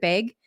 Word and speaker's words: Beg: Is it Beg? I've never even Mhm. asked her how she pronounced her last name. Beg.